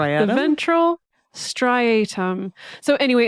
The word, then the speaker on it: striatum: this part of your brain called the ventral strium is what I'm going to call it or how I'm going to pronounce it but brain people out there sorry